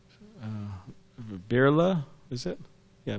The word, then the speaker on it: Birla: the house of mrs i think the names pronounced uh birla is it yeah birla so at the time she was one of